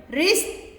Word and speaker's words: wrist: ribs ribs wrist wrist don't pronounce the w wrist wrist he has his